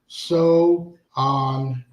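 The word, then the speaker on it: Samhain: So, a Celtic region and was named Saman, pronounced Sohan.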